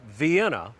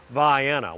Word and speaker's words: Vienna: pass back and forth on I75 but it's pronounced via now if you call it uh Vienna to any of the locals around there they